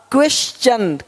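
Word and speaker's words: question: देख पा रहे हैं यदि कि शब्द के अंत में एस के आगे टी आई ओ एन हो तो टी के आगे य आरी आए तो टी का उच्चारण च होता है देखो यहां पे टी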